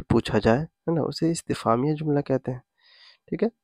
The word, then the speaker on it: استفہامیہ: جاتا ہے۔ تو دیکھیں، اس کا تلفظ ہے استفہامیہ، اس کو یاد رکھیں